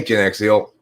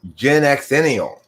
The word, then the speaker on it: Gen Xenial: i like the name hey genexia i mean gen xenial i've been mispronouncing your name that's why i wasn't able to find your channel yesterday because i was trying to type in genexio into this search i've been mispronouncing your name this whole time it's genuine gen you're